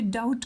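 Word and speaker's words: doubt: फिर यहाँ पे डाउट कहते हैं, बी को प्रोनाउंस नहीं करते हैं.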